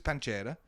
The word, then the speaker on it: pancetta: okay go on so you use you use pancetta is that how you say it yeah